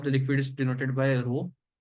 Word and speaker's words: rho: If I say the density of the liquid is denoted by rho, this is a Greek letter, which is pronounced as RHO rho. It looks like a P, but it is called a rho.